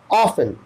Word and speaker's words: often: तो ऑ, सॉ नहीं, सॉ हटा करके ऑ, सेम साउंड है, यहां पे था सॉ और निकल रहा था वही ऑ, ऑफन, ऑफन, ऑफन, देखिए फेन